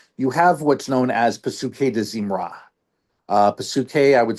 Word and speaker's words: Pesukei de Zimra: And then before you get to, a call to worship in the morning, you have what's known as Pesukei de Zimra. Pesukei, I would spell that P-S-U-K-E-I, and then de Zimra, D''Zimrah.